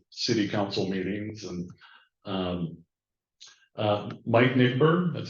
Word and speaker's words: Nigbur: Been to city council meetings, and Mike Nigbur, that's how you pronounce it.